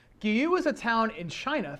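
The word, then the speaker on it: Guiyu: a little bit off i think it's pronounced guillou gyu is a town in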